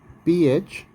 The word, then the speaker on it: phthalic: PHTHALIC, phthalic acid. So by far all of you have listened that psychology or you can say psychiatric so like that here in phthalic acid P is silent.